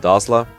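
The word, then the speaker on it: Dozla: characters La Rochelle and dazzla and yes that's how you pronounce it heroes confirmed it but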